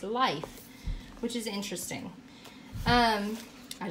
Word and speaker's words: Leif: with saying his name Leif Leif Ericson but if you it's pronounced life which is interesting um